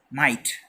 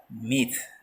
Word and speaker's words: myth: Okay, don't pronounce it as might. Okay, this is myth.